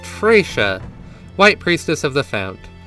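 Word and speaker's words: Fretia: Next up is our first of 3 planeswalkers, whose name I am being told is pronounced Freysha, White Priestess of the Fount.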